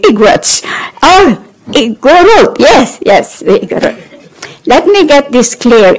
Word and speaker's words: Igorot: "Yes, yes, Igorot." Let me get this clear. In Ilocano, when the Ilocano says Igorot with the emphasis on the first word, it's bad.